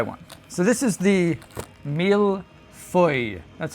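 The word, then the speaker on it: mille-feuille: So, this is the mil foy. That's how you pronounce that.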